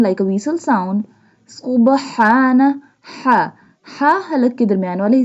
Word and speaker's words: ح: اے vessel sound. سبحان ہا ہا حلق کے درمیان والے حصے سے ادا ہوتا ہے۔ ہا pronounced from the middle part of the throat۔ والحمد للہ للہ۔ This